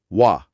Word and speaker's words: は: আংটা হিসেবে কাজ করে, তখন জাদুকরীভাবে এর উচ্চারণ পাল্টে গিয়ে হয়ে যায় ওয়া।